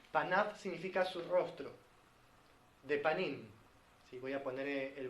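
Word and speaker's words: פנים: Así se pronuncia rostro en hebreo, panim.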